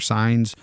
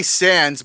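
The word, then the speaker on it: Saenz: Sainz or Signs, how do you say this? Well, I say Sands, but it sounded like they were saying Signs.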